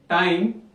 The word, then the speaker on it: time: you must notice that the e sound is silent while we say time i is coming out